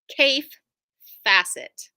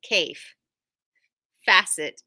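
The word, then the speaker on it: Kaffe Fassett: have Fabric in from Cai facet his name rhymes with safe asset so if you see Ka a ffe it's Cai facet is his last name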